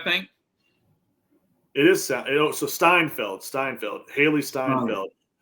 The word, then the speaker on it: Steinfeld: look because I feel like I'm saying her name wrong. I got to look before I get off. It's Haley. I think it's Seinfeld or Siegfried.